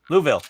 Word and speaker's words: Louisville: it does I'll just reroute Louisville it's it's like Whoville well I live in